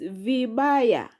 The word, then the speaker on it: vibaya: Then next word is vibaya. Vibaya. Vibaya has syllable. Vi ba ya. Vibaya. Those are three syllables.